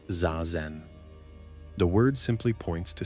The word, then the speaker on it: zazen: In Zen, one of the central practices is called zazen, pronounced zazen.